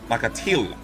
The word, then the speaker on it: Nakathila: Lord knows I didn't know how to pronounce his name. Nakathila. Is it Nakathila? Nakathila.